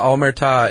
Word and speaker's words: Omertà: The Omertà is the code of silence. Really? That's how you pronounce it? Yeah, ta is the emphasis is on ta.